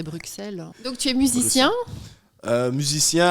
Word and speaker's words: Bruxelles: dit bruce chaque fois je sais pas comment prononcer pas moi j'aime bien dire bruxelles mais c'est vrai que normalement c'est bruxelles donc tu es musicien